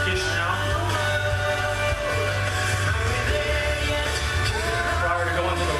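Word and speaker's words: Chișinău: It's pronounced Chisinau.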